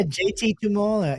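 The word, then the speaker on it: Tuimoloau: Did I hit the last name or was I way off? Yeah. JT Tumola. Yeah, you said it right.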